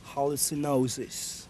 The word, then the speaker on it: Hallucinosis: How do you pronounce it? Hallucinosis.